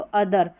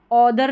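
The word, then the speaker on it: other: को अर पढ़ते हैं, तो अदर, ऑदर नहीं पढ़ेंगे, ओ हो गया तो ऑदर पढ़ दिया, नहीं अदर, इस तरीके से इसको पढ़ा जाएगा।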